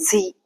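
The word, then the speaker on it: Sie: talking formally in German it will be z s i e z and informally if you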